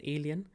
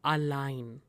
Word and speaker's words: allein: Allein, this is not alien. Some students pronounce it as alien. This is allein, which means alone.